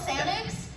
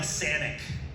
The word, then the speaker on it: Sanic: they call him like Sanic, like Xanax Sonic the or- Hedgehog. How did you actually say his name? It's Sanic. Xanax, and we'd say Like, Xanax. yeah, they would say Xanax, Xanax. Sanic.